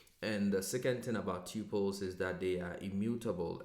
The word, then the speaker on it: tuple: data type in Python called the tuple, or I have heard other people pronounce it as tuple, so it depends on where you come from. So if you hear tuple or tuple, you know I'm talking about the same thing.